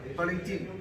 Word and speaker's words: Valentin: Give me the pronunciation once again. Valentin. Valentino. Oh, Valentin.